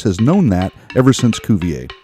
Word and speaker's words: Cuvier: known that ever since cuvier or however you pronounce that no it's kuvier you got that right